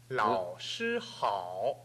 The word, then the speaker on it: 老师: 喝好喝好好喝好好喝好喝好아니고好好 발음이약간나도록들리도록하셔야됩니다그다음 老师好 좋습니다다시한번 老师好 네좋습니다 老师好 좋습니다 老师好 네 老师好